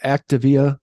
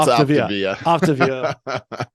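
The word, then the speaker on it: Optavia: Again, just a reminder that you've been on that Activia. Did I say it right this time for the first time? No, it's Optivia.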